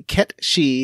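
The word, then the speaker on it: cait sith: Ket. You're Ket or Cat. Yeah, I think both are fine. Mm. I looked up several pronunciations, but apparently Ketchy is the most accurate.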